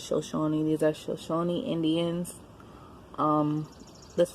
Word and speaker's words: Shoshone: Okay, these are, I'm not sure if I'm pronouncing it correctly. Again, I believe it's Shoshone. I believe it's pronounced as Shoshone.